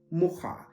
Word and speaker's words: mucha: When we think of the word a fly, so just like the insect a fly, in Polish that is pronounced mucha, which is easy to pronounce.